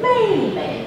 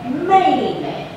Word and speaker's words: 妹妹: Not 妹妹, it's a neutral tone. 妹妹, okay.